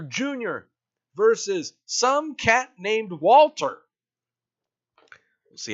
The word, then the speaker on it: Walter: It's pronounced Walter.